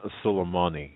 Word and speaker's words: Soleimani: It's Qasem Soleimani.